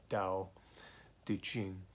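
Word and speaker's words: Tao Te Ching: The actual pronunciation is with a D, so D-A-O, Tao De Jing, and the way of change or the path of change.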